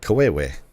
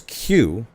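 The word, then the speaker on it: queue: The word is Q. Why do you spell it Q-U-E-U-E? Because now you're spelling Kawewe.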